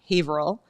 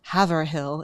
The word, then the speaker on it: Haverhill: okay sorry the answer Felicia is yeah um Haverhill or Haverhill if you want to mispronounce it uh or Exeter yeah we can